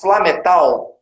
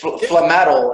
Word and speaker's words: Flametal: that you created the I in Portuguese would pronounce Flametal. I'm not sure if Flametal is, that's probably how you say it, right? You're right on both.